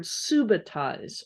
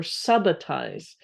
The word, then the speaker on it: subitize: You may hear the word subitize or subitize. Depending upon where you're from, it may be pronounced 2 different ways.